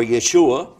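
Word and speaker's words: ישוע: the word Issa his name in Hebrew is pronounced Isha or Yeshua and it's Isa in Arabic and the reason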